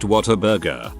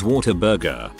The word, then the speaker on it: Whataburger: On a similar note, we have a chain of fast food burger joints called Whataburger, pronounced Whataburger. I always thought it was Whataburger.